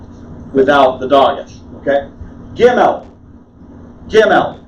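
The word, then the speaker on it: גימל: Gimel. What English word does gimel sound like? Camel. Camel. Look at the camel's neck. Okay? Gimel.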